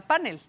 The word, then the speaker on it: panel: mismo con la palabra panel. Ok. ¿Qué tipo de palabra es panel? ¿Cómo la pronunciamos en México? Panel. Panel. Sí, como grave. Como grave que termine en L.